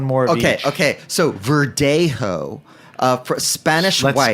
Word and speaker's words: Verdejo: So Verdejo, for Spanish Let's white. spell it V-E-R-D.